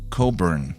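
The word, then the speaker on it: Cockburn: raise eyebrows but it's pronounced Coburn without the ck sound it's almost disappointing after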